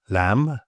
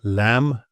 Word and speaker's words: lamb: So basically, if you see an MB at the end of the word, just ignore the B. Some examples: lamb, climb, doubt, debt, subtle. So lamb, climb, doubt, debt, subtle.